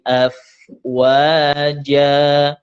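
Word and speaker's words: أَفْوَاجًا: Fi dinillahi afwaja. F itu huruf fa-nya gigi atas bertemu dengan bibir bawah. Afwaja. Ja-nya itu 2 harokat.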